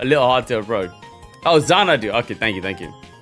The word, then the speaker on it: Xanadu: Oh, Xanadu. Okay, thank you. Right, it was the X that threw me off. Okay, so Z, it's pronounced as Z, yeah, alright.